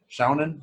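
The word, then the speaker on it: shōnen: Shonen?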